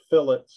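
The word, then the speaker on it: fillet: it it's called a phillip it's spelled like filet but they're in this type of application called a phillip and that's available to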